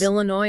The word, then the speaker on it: Illinois: Illinois is another big one. That final S is silent, too.